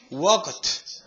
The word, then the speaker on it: walked: Walked. Oh. La L no se dice.